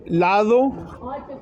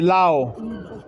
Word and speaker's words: lado: The Spanish is a lot harder because they don't really pronounce the consonants as much. So they say something like, instead of saying lado, they say lao, for example.